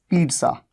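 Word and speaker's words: pizza: लिख देते हैं पिज्जा, लेकिन इंग्लिश में जब इसे प्रोनाउंस करते हैं सही प्रोनाउंसिएशन क्या है? पी आधा ट, पिज्जा, ज के नीचे बिंदु जा, पिज्जा, ये इसकी करेक्ट प्रोनाउंसिएशन है।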